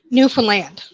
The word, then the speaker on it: Newfoundland: Okay, everybody always says it like it's spelt like Oh, Newfoundland, but it's called. But here we pronounce it Newfoundland.